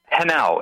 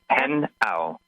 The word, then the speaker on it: Henao: Henault, H E N A O, pronounced Henault.